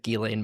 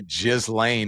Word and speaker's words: Ghislaine: Well, one, I'm glad you said Ghislaine Maxwell because that's the correct pronunciation of her name. I get so it's Yes, it's a pet peeve of mine too when when people people. say Ghislaine, I'm like Yeah, that sounds gross.